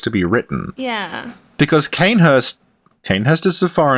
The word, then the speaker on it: Cainhurst: me finally because that's the correct way to pronounce it kind Hirst cainhurst the Australian one cainhurst Ghana cainhurst get some tinny's